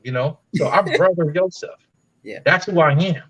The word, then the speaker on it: Yosef: Their true pronunciation is Yosef, which means God will increase.